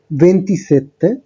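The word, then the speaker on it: ventisette: 24 এর ক্ষেত্রে উচ্চারণটা হচ্ছে ভেন্টিকোয়াত্রো, 25 এর ক্ষেত্রে ভেন্টিচিনকুয়ে, 26 এর ক্ষেত্রে ভেন্টিসেই, 27 এর ক্ষেত্রে ভেন্টিসেত্তে, 28 এর ক্ষেত্রে ভেন্তত্তো, 29 এর ক্ষেত্রে ভেন্তিনোভে।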